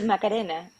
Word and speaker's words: Macarena: Well, Well, it should be Macarena, but it's like it's hard to switch the tongue.